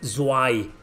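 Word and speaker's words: Zwei: they're called zwai z-w-e-i zy i think it's pronounced so i there's two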